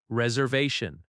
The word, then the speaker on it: reservation: Reservation. Reservation. The stress falls on the third syllable. Reservation. That va sound is strong.